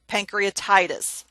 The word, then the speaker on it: pancreatitis: and then the then the medical term pancreatitis the ty is emphasized pancreatitis the best way to